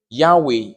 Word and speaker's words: Yahweh: Yea, that's Yehi, which means "let there be light," and Wei, which is "and there was." When you put it together, you have Yahweh, which is Yahweh. And so He's making us